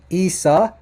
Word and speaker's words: Isa: now this will be isa isa and and it's not risa listen to that to that guttural iron at the beginning that's very important and that's a huge